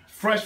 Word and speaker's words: Pfresh: Pfresh, Pfinesse, Mahone with the P. The P is silent.